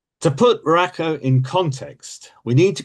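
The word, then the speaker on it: Ruocco: The next architect I want to talk about is Lloyda Rakow, and I've been assured that that is the correct pronunciation. To put Rakow in context, we need to go back to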